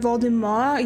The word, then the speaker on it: Voldemort: for Draco Malfur, Lord Voldemort is spelled the same, but it's Lord Voldemort. You don't really pronounce the T at the end of it.